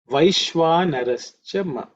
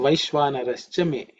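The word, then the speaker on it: वैश्वानरश्च मे: Vaishvanarascha ma. That's the way it's pronounced ma, but it's me. So Vaishvanarascha me.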